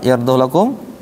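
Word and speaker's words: يَرْضَهُ لَكُمْ: Ketemu ada kalimat yardhu lakum. Nah, ini dibacanya pendek. Yardhu lakum.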